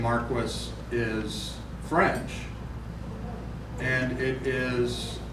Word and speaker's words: Marquis: But the name Marquis, my name is pronounced Marquis. That's the English pronunciation. Think Marquis of Queensberry, the guy who invented the rules of boxing.